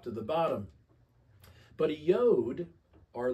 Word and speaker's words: yod: of the Hebrew alphabet it's pronounced yod in Hebrew and here it is